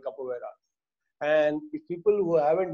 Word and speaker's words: capoeira: Capoeira. How do you spell it?